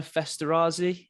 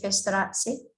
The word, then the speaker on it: Festerazzi: to it it's fine my husband would say fasterazzy yes that's how he would pronounce it is it italian i